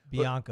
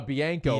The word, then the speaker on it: Bianco: Bianca. It's Bianco.